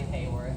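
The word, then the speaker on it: Haworth: think this is officially Hayworth Hayworth doesn't have a y but it's pronounced like we all wish it did through the presence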